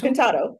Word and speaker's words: Contatto: So, what is, I'm going to pronounce this as best I can, Contatto, is that correct? Contatto? Contatto.